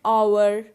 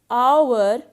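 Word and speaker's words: hour: an honest man and our now notice the word our and honest so in both these words h is silent so our and honest start with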